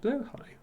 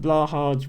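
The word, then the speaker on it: Blåhaj: high pronunciation yes I I called it blah hard once as well we we've all we've all done it but yes I I I it's it's still not exactly right you you'd have to ask a Swedish person what the the correct pronunciation is but I think blo high is close um and yes I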